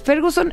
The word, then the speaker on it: Ferguson: Para aquellos que, al igual que yo, no saben quién es Ferguson, él fichó a talentos como Eric Cantona, Cristiano Ronaldo y Wayne Rooney. ¿Sí se pronuncia así, Fer?